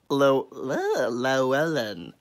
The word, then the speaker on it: Llewellyn: Oh, Llewellyn.